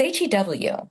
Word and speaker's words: Hugh: How do you even pronounce Hugh in French? Huh? Well, it's Hew.